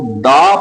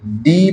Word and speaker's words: the: तो अगर कंसोनेंट मौजूद हो तो हम इस टी एच ई को द प्रोनाउंस करेंगे। डी प्रोनाउंस नहीं करेंगे।